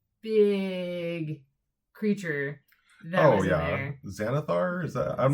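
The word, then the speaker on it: Xanathar: Xanithar. Is that I'm not sure how to pronounce it. I believe it's Zanithar is what they said. Spelled with an X.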